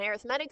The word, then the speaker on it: arithmetic: makes it an adjective so as an adjective you pronounce it arithmetic an arithmetic sequence is a sequence